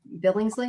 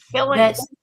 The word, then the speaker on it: Billings: and he says that Sheriff uh Billingsley, what did you say his name was? Billings. Billings, sorry, Billings.